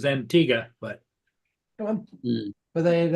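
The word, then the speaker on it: Antigua: okay yeah I guess I guess the pron correct pronunciation is Antiga but come on but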